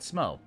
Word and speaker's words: Smough: In fact, this was the weapon that I used when I first beat Ornstein and Smo. Or Smough, depending on how you want to pronounce it.